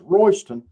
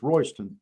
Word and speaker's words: Royston: And that's that's pronounced Royston and it's and it's spelled Royy's ton, you know, like it belongs to somebody, but it's Royston, but you know.